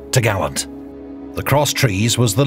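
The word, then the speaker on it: topgallant: Then the cross trees, which secured the top gallant mast, pronounced t'gallant.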